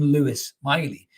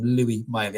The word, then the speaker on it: Lewis Miley: But I heard Eddie Howe call him Louis, right? So to me, his manager clearly knows how to pronounce his name. So I'm going to call him Louis Miley. I'm not calling him Lewis Miley.